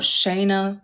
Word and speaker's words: Shana: But, I'm like, no, it's Shayna like Dana. So, the Shayna like Dana page is